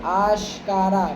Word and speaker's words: آشکارا: ذرے زا کا تلفظ، آشکارا بڑی شین، ذرے ذرے سے آشکارا